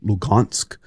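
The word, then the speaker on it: Luhansk: between donet and lugansk and I know it says an H but it's pronounced with a G lugansk oist region oist means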